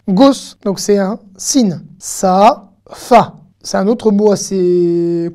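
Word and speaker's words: שפה: Sa-fa. Sa-a. Le point est de ce côté. Hein, du côté gauche. Donc c'est un sin. Sa-fa.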